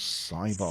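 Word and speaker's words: Sybok: Andrew correctly said the other child's name was Cybok.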